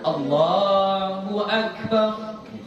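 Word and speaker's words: الله أكبر: 2 harokat saja ya. Allahu Akbar. Jadi bukan Allahu Akbar.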